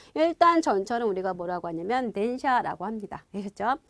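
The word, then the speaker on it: 電車: 이렇게 가는 거니까 전거가 아니라 전차라고 들어가시면 되고요 발음은 그대로 덴샤 하시면 돼요 그래서 드라마 혹시 일본 드라마 좋아하시는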